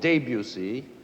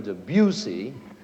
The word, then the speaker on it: Debussy: great French composer Debussy, whom you may have heard called Debussy or even Debussy, but however you pronounce it, Claude Debussy wrote a masterpiece called La Mer, which means the sea.